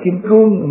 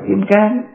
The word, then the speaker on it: kim cương: Cái chữ kim cang đó, kim cang hay là kim cương, miền Bắc đọc là kim cương, miền Nam lục đọc là kim cang, là để lấy cái